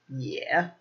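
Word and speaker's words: 也: So another adverb is this one, pronounced yeah, yeah.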